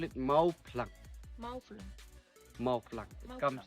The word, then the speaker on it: Mawphlang: Mawphlang. It come like that. That's why people who come and visit here, no, they cannot pronounce. Yes. They pronounce with the F letter. Okay. Here it's P.